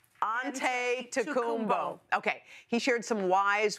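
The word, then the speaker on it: Antetokounmpo: Aante Tumbbo.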